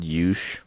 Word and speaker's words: Youche: Clarify that it's spelled Yush. Yeah, Youche. So we were driving one time, just to side tangent, and I was like, what is this Yush Country Club? I was like, that's pronounced Yuki.